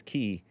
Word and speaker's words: chi: And he pronounces, it looks like he's pronouncing chi as ki, which is fine. I think that's how he would pronounce it. I always thought it was chi, but it's also ki. Nice.